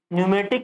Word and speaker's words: pneumatic: हो गया न्यूमेटिक system न्यूमेटिक में प साइलेंट हो न्यूमेटिक बोलते बारबार न्यूमेटिक सिस्टम प नहीं बोलते हैं प वड नहीं बोलते तीसरा आपका हो गया